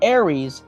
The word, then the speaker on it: Ares: And your question is thus: in how many films has the character of Ares appeared? I'm surprised you pronounced it correctly.